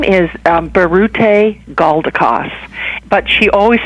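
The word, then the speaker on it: Biruté Galdikas: what the story is about and can you pronounce the lady's name please her name is Barret a gaul de cos but she always says she you can call we can call her dr.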